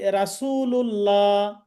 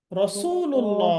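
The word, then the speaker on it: رسول الله: র জবর র হবে, রা বলা যাবে না। আমরা অনেকে বলি রাসূলুল্লাহ, রাসূলুল্লাহ, রাসূল, রসুল্লাহ হবে, তাই না? মাশাআল্লাহ, রাসূলুল্লাহ বলা যাবে না।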